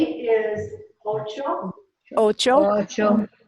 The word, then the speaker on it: ocho: 8 is ocho. Ocho. Ocho. So the accent's here on the first O.